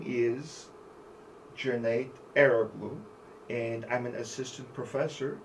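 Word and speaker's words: Eroğlu: And my first name is pronounced like Junaid. Last name, Eroglu.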